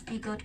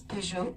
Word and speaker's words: Peugeot: Yes, sometimes you pronounce Peugeot, we pronounce Peugeot. Very good, Peugeot.